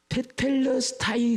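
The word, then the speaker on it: τετέλεσται: 그거를 정확하게 발음하면 테텔레스타이.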